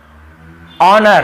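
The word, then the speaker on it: honour: को नहीं पढ़ना है देखिए ऑनर हम इसे क्या पढ़ते हैं ऑनर ठीक है हनर नहीं पढ़ते हैं एच नहीं पढ़ना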